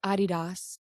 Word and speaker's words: Adidas: And then, like, it's pronounced Adidas in Europe.